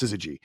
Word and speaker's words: syzygy: I believe this is how it's pronounced, syzygy.